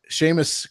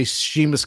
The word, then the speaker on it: Seamus: Seamus Seamus Coughlin I always have trouble say his name because I always want to say chimas Coughlin cuz that's how it looks yeah Seamus Coughlin does